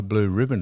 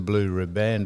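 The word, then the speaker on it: riband: blue ribband event is a blue not a blue ribbon event, it's a blue ribband event. And there's one other one that's most most mispronounced saying.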